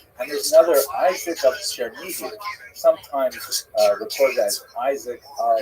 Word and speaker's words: Chernihiv: And there's another, Isaac of Chernihiv, sometimes recorded as Isaac of or Yitzchak of Chernigov. That would be Russian pronunciation of the same place.